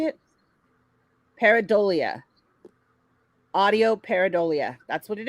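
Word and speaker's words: pareidolia: here listen this is how you say it peridolia it's the tendency to perceive a specific often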